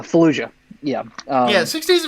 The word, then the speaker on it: Fallujah: for a second here you said falua like bless you i mispronounced it uh fallujah yeah uh yeah six